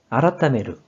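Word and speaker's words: 改める: 이 한자 뜻으로는 아라타메르, 아라타메르, 음으로는 카이, 카이로 각각 발음해줘요.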